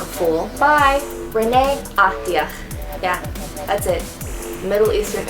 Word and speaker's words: Ahdiah: I loved how to pronounce this because I didn't want to sound like a fool. By Renee Ahdiah.